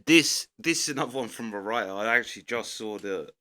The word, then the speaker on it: Mariah: I actually just saw the email where she said it's not I've been calling her Maria, but it's Mariah. Like Mariah Carey, which actually makes sense because it's spelt like that.